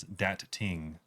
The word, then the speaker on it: Dat Ting: And we call him Dating, but technically that's just because we mispronounced it in the beginning. There's two T's, but I'm gonna say dating, and I don't give a damn. Technically, his name is Dat Ting.